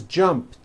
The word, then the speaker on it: jumped: So jump becomes jumped, with a T sound at the end. Jumped. Of course, the word is spelled with an ed ending. It's just pronounced as a T.